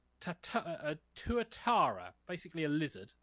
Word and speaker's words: tuatara: So, the film is basically about I got to get the pronunciation of this right. Tuatara, basically a lizard called Leo, who is a school pet.